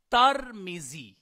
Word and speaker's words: ترمذی: المیم و سکون الراء، ترمیزی، تا کے اوپر زبر پڑی جائے گی، یہ ایک قول کے